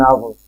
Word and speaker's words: hour: spelling of our so it is h-o-u-r but even then we are going to add n before it why because H in this case is considered as silence it has no use it is considered a silent so when silent world